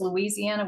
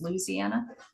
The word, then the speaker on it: Louisiana: And growing up, I never realized the name was Louisiana. We thought it was Louisiana.